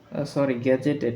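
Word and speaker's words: gazetted: Galaxy, ছায়াপথ, government, governing body অর্থাৎ পরিচালক মণ্ডলী, তারপর জেনারেল সাধারণ, তারপর গ্রিন রুম মানে হচ্ছে সাজঘর, তারপর গ্যাজু গ্যাজুয়েটেড ঘোষিত, গ্যাজেটেড উচ্চারণ হবে গ্যাজেটেড মানে ঘোষিত, তারপরে জিওলজি মানে ভূতত্ত্ব, তারপর গুডউইল অর্থাৎ সুনাম।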